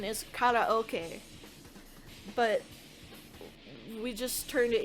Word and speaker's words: karaoke: Like karaoke, it is not pronounced karaoke. It is it's a lone word from Japanese. So the actual pronunciation is karaoke, but we just turned it into karaoke for some reason.